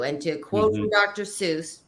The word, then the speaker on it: Seuss: to quote from Dr Seuss it's actually pronounced soyce but that's a whole